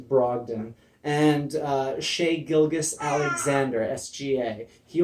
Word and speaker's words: Brogdon: That would be Malcolm Brogdon. You said it wrong. It's actually Brogdon.